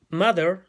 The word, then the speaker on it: mother: Primero que todo, esa O no se pronuncia como una O. No es mother, ¿ya? Se tiene que pronunciar como una A, ¿ya? Mother. Y nuevamente la TH, como habíamos dicho en el ejemplo anterior, el de padre, también se pronuncia como una D. ¿Ya? La TH se cambia por una D de dedo.